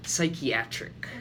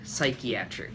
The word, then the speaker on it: psychiatric: a weakness and speaking about your job you're mispronouncing the word psychic psychiatric psychiatric so for that pronunciation just be sure to